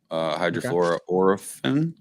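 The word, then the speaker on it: hydrofluoroolefin: this new refrigerant it's 513a it's a hfo hydrofor Oren that's how you pronounce it and so uh it's basically 134a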